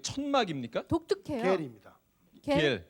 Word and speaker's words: 겔: 겔. 겔. 아 거기서 부르는 이름이 예.